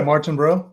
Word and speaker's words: Martinbrough: please welcome Sean martinb is that how it's pronounced yeah Martin bro mar mar Martin bro that's yeah sometimes you